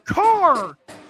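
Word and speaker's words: Karr: And Carr is spelled K-A-R-R, by the way.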